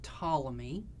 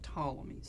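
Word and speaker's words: Ptolemy: by the name of tmy so I know it looks like pamy but it's tmy so you don't pronounce the p and he was an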